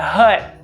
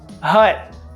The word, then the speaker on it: hut: i told you that hut hut it's not pronounced the t if you pronounce it